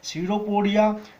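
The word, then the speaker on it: pseudopodia: सीडोपोडिया, SIDO P यहाँ silent होता है, सीडो का मतलब होता है फॉल्स और पोडिया का मतलब होता है फिट।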